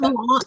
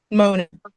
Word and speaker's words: Mona: So it's not Moana, but it's not Moana, right? No, no, I don't. It's spelled the same. It's just Mona, but Mona. Mona. Okay. Mona. I don't know even how to spell it, but it's spelled the same way, Mona.